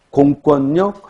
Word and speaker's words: 공권력: 대관령 할 때는 리을 유음화가 일어나지만 공권력 할 때는 니은 비음화가 일어난다.